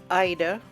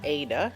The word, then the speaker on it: Aida: IDA or ADA if you want to pronounce it like that is traditionally made 100% cotton.